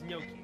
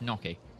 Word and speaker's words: gnocchi: It's gnocchi, right?